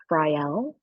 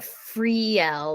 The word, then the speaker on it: Friel: pronounce my name because everyone would be like frel I'm like no no no that's or like free L like yeah like more emphasis on the L part of the ending yeah